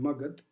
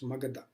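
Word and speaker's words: Magadha: jana pata was Megara normally we called Margit the pronunciation is Magatha so out of sixteen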